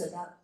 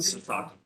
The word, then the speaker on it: Sasaki: Well, and that's Sadaka, can't pronounce it, Sadaka, can't pronounce. That signage that was the. Sasaki, yes.